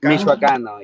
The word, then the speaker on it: Michoacano: That's how you say it, Michoacano, yeah.